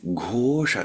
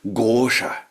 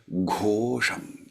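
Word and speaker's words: घोष: Manju Ghosha. Manju Ghosha, not Gosha. Yeah, so if we look at the verse that I chanted for you, Manju Ghosham. Ghosham. Not Gosham, but Ghosham.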